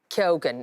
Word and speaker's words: Keoghan: Yes, it is pronounced Keoghan, isn't it?